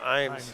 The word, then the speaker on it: Eames: Or is that pronounced Eames or Imes, or how did you pronounce it? Imes. Imes, okay.